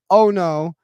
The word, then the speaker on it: Ono: if you don't know Uno by now and by the way it's not Uno like the card game it's Ono o n o um it's